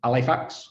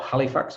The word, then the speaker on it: Halifax: from a place called alifax or halifax if you pronounce it with a h but we don't from yorkshire i've been